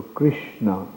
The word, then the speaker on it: Krishna: To think that it is something of this world, like Krishna, the name Krishna is a combination of 4 syllables. Ka, Ri, Sha, Na. So Krishna.